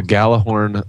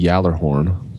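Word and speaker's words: Gjallarhorn: I guess if I was pronouncing it correctly, it would be the Yallerhorn because it's a Swedish word, right?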